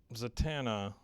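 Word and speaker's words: Zatanna: them is young Bruce so I know that zatana I say it right yeah is she's like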